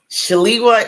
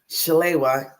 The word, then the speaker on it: Shalewa: ways to pronounce it shalwa is the African-American way Chala is the Nigerian way so my name is